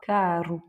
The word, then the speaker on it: caro: effectivement ça veut dire avec le 2 R on a un R raclé carou et ici quand il est tout seul et en milieu de mot on va voir karou.